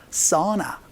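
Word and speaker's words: sauna: 하고 나서 싸운 한데 사우나 는 바라며 써 나 라고 발음 해주셔야 되니까 조금 주의를 주어야 됩니다 사우나 아니고 써 나 라고 발음 해서 연습 한번 해보도록 하죠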